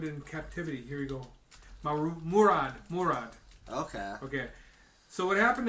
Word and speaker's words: Murad: how you pronounce that? Murad. Mircea. No, it's Murad. Mircea.